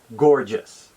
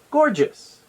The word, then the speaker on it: gorgeous: you get the word gorgeous did you notice where the word stress is for gorgeous the answer is the first syllable g-o-r scored let's try